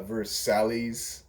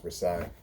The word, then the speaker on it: Versailles: from my my hooked on phonics perspective it's spelled like uh verse sally's i that's how i pronounced it for the longest time uh but until i realized it was pronounced versailles anyway so banister is literally just like uh